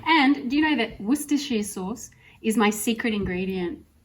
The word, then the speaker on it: Worcestershire: Worcestershire sauce?